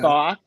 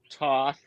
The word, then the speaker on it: Thoth: the is it pronounced Toth? Andrew Crawley deck? It's pronounced multiple ways. Okay. Thoth, Toth, Thoth. You pick one and be consistent.